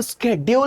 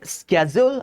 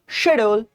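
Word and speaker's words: schedule: इसको स्केेड्यूल नहीं पढ़ा जाता है। इसको या तो पढ़ेंगे स्केजूल्य। अगर तुम्हें क घुसाना है तो अमेरिकन प्रोनाउंसिएशन है स्कैजोल स्केजल या शेड्यूल जैसा सब पढ़ते आ रहे थे या शजोल शजोल मैंने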